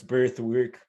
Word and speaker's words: bEarth: It's spelled bEarth, but it's Birthwork app.